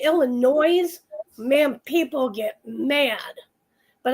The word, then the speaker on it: Illinois: It's Illinois. But if you add the S on the end to Illinois, oh man, people get upset.